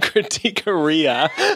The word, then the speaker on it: critiqueria: We keep saying critiqueria, like gonorrhea.